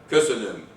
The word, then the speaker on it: köszönöm: So this is the word thank you, köszönöm. Stress goes on the first syllable.